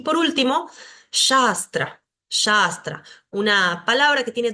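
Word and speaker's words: śāstra: A larga además, y la segunda es una S como nuestra S común, la S de si, sapo, sol. Shastra, Shastra.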